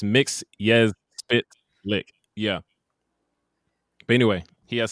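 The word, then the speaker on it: Mxyzptlk: series he breaks it gilbert godfrey breaks it down it's mix yes spit lick yeah but anyway he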